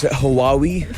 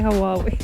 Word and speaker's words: Huawei: Are you a Huawei user, or as everyone else knows, Huawei? Right? I hate when people say Huawei.